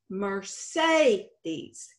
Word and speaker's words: Mercedes: The second e sound is pronounced long a, Mercedes.